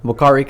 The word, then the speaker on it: Uakari: host with lokari Cuts I was wondering how to pronounce it right yeah yeah the U is a uh pronounced as a w that's amazing hell yeah